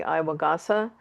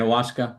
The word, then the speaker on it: ayahuasca: It's I had two of my clients had gone away to do the Iwagasa. I think that's Yeah, how you say it, right? ayahuasca.